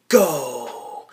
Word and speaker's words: Fandango: He's like, "My name is Fandango." Fandango. We gotta let the A's breathe.